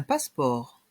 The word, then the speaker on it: passeport: une pièce d'identité un passeport un passeport ici le E onentend presque pas et le T est muet la lettre T est muette un passeport les bagages